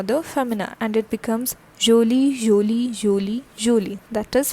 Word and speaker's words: jolie: Okay, this is not jolie, this is jolie, jolie, something like j sound comes over here, jolie.